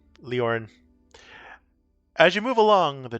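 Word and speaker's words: Lórien: So you are traveling through Murkwood Forest carrying an urgent message from King Fenderal to Lady Gladriel of Lauren. Leor Lauren Leor Lauren. I keep mispronouncing that. Leorin.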